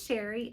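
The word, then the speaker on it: Chere: My name is Sherry, and that is spelled C-H-E-R-E. It is spelled a little fancy, but pronounced plain old Sherry.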